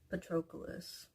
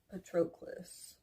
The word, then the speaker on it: Patroclus: if that makes sense so we went from petropolis a petroquis patroclus I find out the name